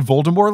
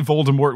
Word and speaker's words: Voldemort: thing we do here we all say voldemort with a t because we're not trying to be pretentious and if you leave off the t even if you're trying to be correct you sound pompous and i'm gonna think you're pompous and you definitely read